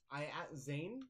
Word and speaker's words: Zan: Okay, you said Zane. I was like, wait, that's very... Okay. Zan. Yes. Do you happen to have any... I pronounced it Zan the first time. It's like I have a spreadsheet with a bunch of different names. What's his name? So it is Zan.